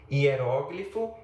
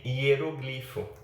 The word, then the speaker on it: hieróglifo: Nós temos que ter um pouco de atenção também para o fato de que há palavras que apresentam duas formas de prosódia: liquidificador e liquidificador. Por exemplo, ou hieróglifo e hieroglifo.